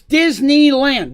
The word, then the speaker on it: Disneyland: vacation vacations in disneyland it's disneyland the y is there for a reason there is maryland the